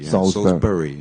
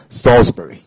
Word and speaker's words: Salisbury: Souls yeah bury and it's Berry actually Berry as in bury something in the ground yeah it's a bit